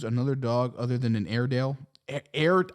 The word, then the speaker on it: Airedale: dog other than an airedale air i think it's air as in like air and then dale so i think i'm